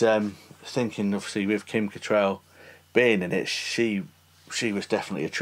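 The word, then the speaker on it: Cattrall: beautiful kim uh cattrill do you pronounce it catcher or catrell arson it's catrell but i mean yeah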